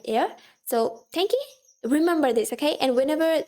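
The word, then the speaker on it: 天気: This is tenki, which means weather. The first kanji is the one which you have in heaven. And this is the kanji which you see in like air. So tenki, remember this, okay?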